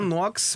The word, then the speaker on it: Knox: Se fala Knox, mas se escreve Knox.